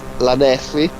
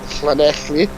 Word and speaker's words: Llanelli: Again, everyone says Lanelli or Lanelli. Lanelli, that's the one. Lanelli. Because they say it as it's spelled. Because it's 2 L's in it twice. That's just... It's Lanelli. That's just ridiculous. Yeah, anything with 2 L's, you don't say L, you say class.